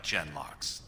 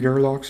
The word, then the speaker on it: genlock: carter like genlocks ah so it's pronounced gen locks i always wondered what they were called because i feel like i was pronouncing their names wrong i think i was calling them gerlock's or something yeah it's true that